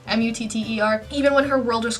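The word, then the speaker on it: Mutter: then you see that what moot earth I think I'll tell you pronounce that in German mu TT er even when her world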